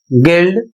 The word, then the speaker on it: guild: अगला शब्द है GUILD, इसे पढ़ा जाएगा गिल्ड, इसका अर्थ होता है व्यापारिक संघ।